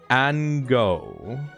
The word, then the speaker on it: Ango: Okay, this is created by Ango. Pronounced like mango.